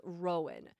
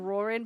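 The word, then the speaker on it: Roran: I do, however, have beef with you pronouncing Rorin and as Rowan and #silly.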